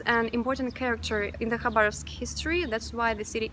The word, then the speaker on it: Khabarovsk: You probably noticed that I pronounced the name of the city as Khabarovsk, but in Russian it is Khabarovsk, so the first sound is not K, it's H.